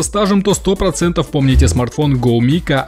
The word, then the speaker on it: Gome: Да, название у бренда стрёмное для наших ушей, читается GoMi, но вы же понимаете, в русскоязычной среде шуточное погоняло ему было обеспечено.